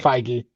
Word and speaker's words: Feige: How do you pronounce his last name? Feige.